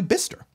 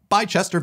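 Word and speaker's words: Bicester: be B right right it's actually bister bister Village not bichester Village so yes big egg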